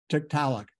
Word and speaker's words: Tiktaalik: How do you pronounce the name? Tiktaalik.